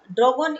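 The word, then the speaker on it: drongo: ड्रैगन या ड्रैगन, ये sorry ड्रोंगो, उसका प्रोनाउंसिएशन क्या होगा, ड्रोंगो।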